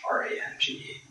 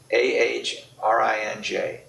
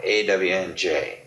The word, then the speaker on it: Orange: It was AHRANGE. Orange. Orange, not orange. Orange and not orange. I was thinking about that not long ago. It is AHRINJ, orange, not AWNJ, orange.